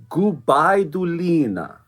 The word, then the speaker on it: Gubaidulina: But so also it's Sofia Gubaidulina. There we go. That's the wonderful pronunciation.